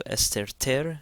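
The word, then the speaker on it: ⲉⲥⲑⲉⲣⲧⲉⲣ: So esterter, again the theta is pronounced like a T.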